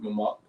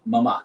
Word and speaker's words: Mamak: And then And obviously it's not even Memic, it's Mamak. Mamak. Yeah, I've been yeah. saying it wrong, Thank but I've been saying it wrong all this time.